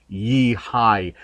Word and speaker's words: YiHi: manager uh there at yei and the correct pronunciation is actually yeeh High um but they do acknowledge the fact that